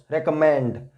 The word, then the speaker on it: recommend: सो रेकमेंड में word stress आ जाएगा एम से पहले. रेकमेंड, रेकमेंड, यहां पर एम से पहले आ जाएगा वर्ड स्ट्रेस. जो this M will be pronounced with force. Recommend.